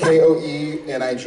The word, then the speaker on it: Koenig: K-O-E-N-I-G is Koenig.